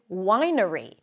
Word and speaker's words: winery: This is exceptionally challenging for people who struggle with pronouncing the W and may replace it with a V sound. So for the W, round your lips. Make sure there is no contact between the lips.